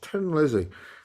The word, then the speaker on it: Thin Lizzy: by Tin Lizzy or Thin Lizzy it's about that but it's pronounced Tin Lizzy because they're Irish in the song The